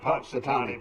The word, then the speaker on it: Punxsutawney: He's called Punxsutawney Phil. Yeah, that's right. Punxsutawney Phil.